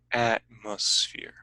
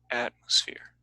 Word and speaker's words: atmosphere: the virgin galactic article atmosphere it starts at the top and goes down atmosphere atmosphere so the peak is at the beginning goes down whereas ignite goes up so combining it with